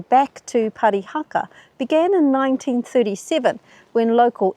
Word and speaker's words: Parihaka: You see, over time the name got twisted, mispronounced, and turned into Parahhacki, which ended up on most of the European maps. The push to change the name back to Parihaka began in 1937 when